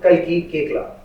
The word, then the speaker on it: Kalki Koechlin: Please welcome Khali Kcla. I hope I pronounced your name right.